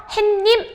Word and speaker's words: 해님: 사이소리 현상도 일어나지 않기 때문에 발음도 해님.